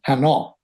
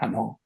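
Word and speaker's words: Hanon: I found out later he was French, but he'd been pronouncing Hannon wrong. I didn't know who he was. His name is Hano. Ho N. Hano, it's a French name.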